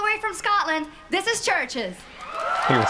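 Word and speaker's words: CHVRCHES: Churches is how it's pronounced.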